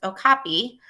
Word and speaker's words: okapi: The okapi, pronounced okapi, is a beautiful and unusual animal.